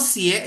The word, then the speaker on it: 学: Nggak mungkin kita baca 学. Nah, kalau 学 itu jadi I nanti. Ya. Kalau kita bacanya seperti ini, nah ini seru ya. Kalau kita bacanya 写 ya, 写 tersenyum, 写 itu artinya menulis, nada 3. Ya, 写我写好了. Aku udah selesai menulis. 写 menulis tersenyum. Tapi kalau belajar itu 学.